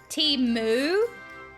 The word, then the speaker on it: Temu: am I being an AIX how do you pronounce it t t- moo T moo okay m is silent two my